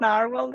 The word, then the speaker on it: Nrwl: Forgotten language from talking it's nrwl I think yeah it's it's called narwhal the company but yes